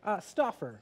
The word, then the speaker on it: Stauffer: Stauffer.